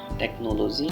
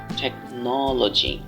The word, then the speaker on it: technology: শেষের বর্ণটি হলো টেকনোলজি, যেটি ছোটবেলা থেকে আমরা বলে আসছি টেকনোলজি, টেকনোলজি, টেকনোলজি, বাট এটা কোনো অংশেই টেকনোলজি না। এটা যদি আমরা সঠিক উচ্চারণে বলতে চাই, কাউকে যদি আমি ইংরেজি বলে অবাক করতে চাই, তাহলে আজকের পর থেকে আমি এটাকে বলবো টেকনোলজি। এখানে ন বর্ণে একটু এমফাসাইজ করতে হবে, একটু জোর দিতে হবে, টেকনোলজি।